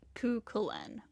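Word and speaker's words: Cú Chulainn: Okay, I think it's pronounced Kukulin.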